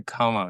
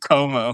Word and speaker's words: Cuomo: because I think the Como campaign one I love like how you pronounce it, by the way. You say Como. You've said this for months. I refuse to Like change Lake it. Como.